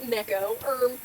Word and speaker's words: neko: Actually, it's pronounced Neko. I'm pronouncing it Nico for the Nico, sake of Nico.